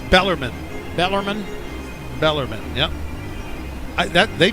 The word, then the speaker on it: Bellarmine: make it bellarmine is that the way it's pronounced yeah we got an expert who uh it's bellarmine bellarmine bellarmine yep that they played a couple